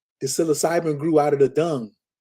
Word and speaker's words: Psilocybin: Psilocybin. Psilocybin.